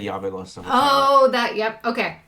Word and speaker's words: Javelosa: actually pronounced Javelosa.